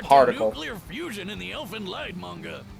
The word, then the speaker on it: Elfen Lied: clear fusion in the Elfen Lied manga elfin lead it's German nothing lead yeah I've been saying it right so thank God